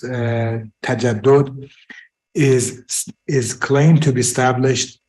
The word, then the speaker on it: تجدد: The term modernity, which is in Farsi pronounced tajaddud, is claimed to be established or founded by Jean-Jacques Rousseau on the 18th century.